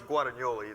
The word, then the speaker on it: Guadagnoli: I've got Chris Guadagnoli, did I pronounce it correctly? Close? Guadagnoli, it's Sorry.